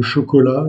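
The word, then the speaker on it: chocolate: Vous pouvez aimer le chocolat, le lait. Donc, en demandant du chocolat, vous devrez demander chocolat. Le E à la fin est légèrement prononcé, chocolat. Ainsi comme pour le mot lait, late.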